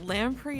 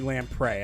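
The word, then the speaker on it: lamprey: thing I've ever learned it should not be pronounced Lam free that's I no no it's wrong it looks like it should be Lam prey I know I've never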